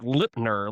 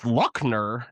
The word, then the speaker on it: Luckner: Like Litmer, like Lipner, like L I P N R. But it's Luckner.